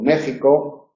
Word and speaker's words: México: Esa misma X, en palabras de origen náhuatl, y como Oaxaca o como México, se pronuncia como J, aunque se escribe X.